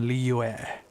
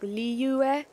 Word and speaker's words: Liyue: But I know it's like there's the li, right? The li is the easy part, and then there's like a yue kind of part, so it's like Liyue, which is kind of how he said it, but of course it's like you blend into those two syllables, so like Liyue would be blended to like Liyue.